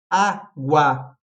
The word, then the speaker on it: água: E aí, água. Água, o G é pronunciado e o U também.